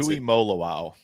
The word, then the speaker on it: Tuimoloau: I don't know how do you pronounce it. Tuimoloau.